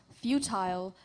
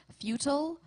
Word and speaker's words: futile: Contestant, your word is futile. This word has two correct pronunciations. Futile.